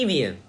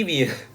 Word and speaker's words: Evian: It's going to be Evian. I knew something was wrong, by the way, when I saw a comment that somebody said, have you ever heard it pronounced this way before? I knew something was wrong. I knew I made a mistake.